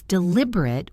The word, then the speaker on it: deliberate: As a verb, it's deliberate with a longer final syllable and it means to think carefully or discuss something.